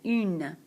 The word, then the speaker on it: une: Feminine singular, une. Tongue goes up, une.